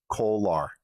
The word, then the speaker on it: Kolar: Kolar. Charlie Kolar.